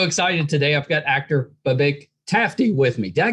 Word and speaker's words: Babak: I mean, it's one of those ones, it's a two-syllable, but it's tricky because emphasis is like the whole thing. It's the whole thing. Babak. See, what I usually say is like, it's like saying bar back, and then you just take out the R.